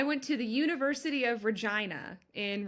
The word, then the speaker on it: Regina: Um that's it's in Saskatchewan and this is the correct pronunciation. Um I went to the University of Regina in Regina, Saskatchewan.